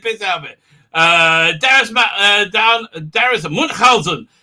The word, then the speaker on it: Munchausen: I pronounced your name correctly. I do like the adventures about Munchausen. That's how I learned to pronounce it. I learned to pronounce it from Jonathan Pryce, who said it very, very well in that movie, which he hated being in.